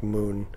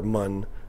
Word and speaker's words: Mun: especially on places like moon or mun as it's actually pronounced and minmus and things